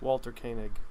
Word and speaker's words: Walter Koenig: Walter Koenig.